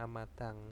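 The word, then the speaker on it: 앞마당: Terus ada amadang. Nah, ini bacanya amadang.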